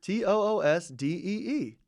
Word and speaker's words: Tuesday: It's actually his pronunciation of the word Tuesday. What did he say? Tuesday. Tuesday? Toosdee.